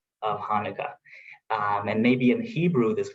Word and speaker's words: Hanukkah: Yes, because the English language missed the letter Cha that we pronounce it from our throat, Cha, and Cha could be pronounced as CH or H. It should be Hanukkah.